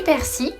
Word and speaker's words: persil: Des chewing-gums à la chlorophylle, du persil. Alors un petit aparté pour les gens qui prononcent le L de persil, vous méritez de mourir